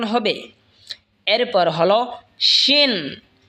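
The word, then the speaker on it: شين: এরপর হলো শিন। শিন জিহ্বার মধ্যখান তার বরাবর ওপরে তালের সঙ্গে লাগা উচ্চারণ হবে শিন।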